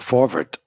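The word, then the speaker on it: Forverts: the Yiddish newspapers uh the for actually that's how they pronounce it but it's the forward but if you see it written it's f o r v r t the for that's not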